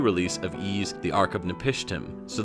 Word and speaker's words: Ys: Despite this, there are words and names that pronounce Y''S, similar to Ease. If you said Nancy's house is on the right, the pronunciation sounds quite similar to the game's appropriate pronunciation.